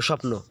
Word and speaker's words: স্বপ্ন: শব্দের শুরুতে রয়েছে হ্যাঁ ব ফলা যদি শব্দের শুরুতে থাকে তাহলে সেটার উচ্চারণ হবে না এই যে দেখো স্বপ্ন লক্ষ্য করো স্বপ্ন স্বপ্ন উচ্চারণ কি হয়েছে এই যে দেখো ব ফলাটা আর নেই হ্যাঁ ঠিক তেমনি ব